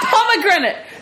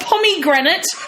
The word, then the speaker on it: pomegranate: with P Oh pomegranate its pomegranate not pomegranate pomegranate oh my god she's